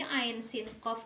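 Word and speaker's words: عسق: Jadi ain sin qaf ini kita ikhfakan.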